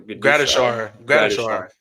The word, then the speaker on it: Gradishar: I don't want to pronounce this wrong. Gradishar. Yeah. Thank you.